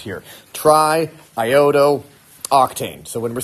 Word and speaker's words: triiodo: these doubles in here so we don't go trioo we go triiodo and instead of going Duane there it's iodo